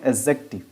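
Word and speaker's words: adjective: देखो जे के साथ क्या डी आया है, तो इस डी को क्या करेंगे, हम नहीं बोलेंगे, डी को नहीं बोलेंगे क्योंकि डी यहाँ पर साइलेंट हो जाता है। तो हम इसे क्या पढ़ेंगे, एडजेक्टिव।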